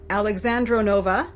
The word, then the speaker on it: Alexandrovna: Okay, this is a woman, this is how her name is pronounced, Baroness Elisabeth Alexandrovna Strogonoff.